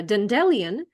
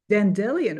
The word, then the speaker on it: dandelion: learning English I uh was pronouncing it uh dendelion uh and yeah it just it's just a fun memory of how I was mispronouncing for some reason and it took me like five years to figure out that I was wrong oh but I like